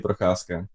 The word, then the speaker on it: Procházka: Back home, we would say Ondřej Procházka. So Prochaska. With a Ondřej big Procházka. roll of the R.